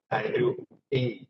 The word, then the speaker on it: Andrew Ng: I mean, Andrew Ng is the correct pronunciation.